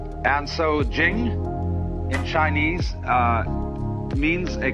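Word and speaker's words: 經: it's pronounced du and Jing there is no apostrophe after the CH so if there were it would be pronounced Ching but it's Jing like a j and so Jing in Chinese uh means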